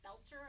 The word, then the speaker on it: Boelter: Boelter, I understand that's how you pronounce it, will be making his initial appearance